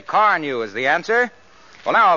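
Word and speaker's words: Carnu: When people ask me how I do it, I say Car New is the answer."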